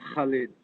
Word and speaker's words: Khalid: Sintah Khalid, but it's, you don't have the KH is sort of like the Arabic Khalid, but it's okay.